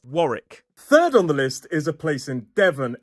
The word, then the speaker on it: Warwick: Next up, we have Warick. It looks like Warwick, but it is Warick. two syllables, stress on the first. Warrick.